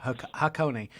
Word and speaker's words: Hakone: pronouncing it uh how i thought it was pronounced so hakone let's talk about the vehicle because it comes